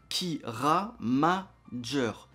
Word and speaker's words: Kiramager: Donc c'est Kira Major. Mais ça s'écrit ma, mais ça se prononce Mei, parce que c'est forcément le ma de mage, mage en anglais. Et vu que ça se prononce mage, ça s'écrit ma, donc forcément c'est Kira Major. Mais ça s'écrira ma. C'est pour ça que le nom des héros, ça s'écrit Kirama Red, mais ça se prononce Kiramei Red.